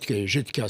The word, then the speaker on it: Jutka: Oui, c'est Jutka, ça. En français, ça s'écrit Jutka, comme on le dit.